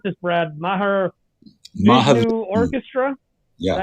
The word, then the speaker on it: Mahavishnu: How do you pronounce this, Brad? Mahavishnu Orchestra? Yeah, Mahavishnu.